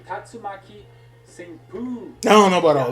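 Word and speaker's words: 竜巻旋風: They pronounce it like Tatsumaki Senpu.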